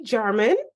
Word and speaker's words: Jarman: friend and colleague Kimberly German. Is that how you pronounce your name? Yep. You nailed it. I was like, wait a second. Sometimes Jay is pronounced differently.